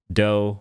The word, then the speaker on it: Dough: been wanting a bow doe rhymes with bow called the o boat